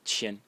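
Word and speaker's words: 千: sound of the character, which is pronounced qian.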